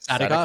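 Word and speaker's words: Sadykhov: Sadikov.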